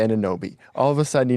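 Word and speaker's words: Anunoby: Like Sham's uh like Sham Sherania always said OG anubi until he was on the Knicks and then all of a sudden it's Anobi.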